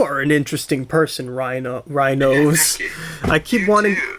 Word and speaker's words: Rhinozz: rhinos I keep wanting I keep wanting to say rhinos because that's how I've been saying it to myself knowing how it's spelled like the word schnoz meaning nose and then but I have to remember it's rhinos as you know because you